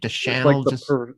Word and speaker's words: Deschanel: Deschanel. It's like the perfume Deschanel.